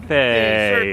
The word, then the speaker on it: Carthay: Rhymes with DCA. Right. Carthay.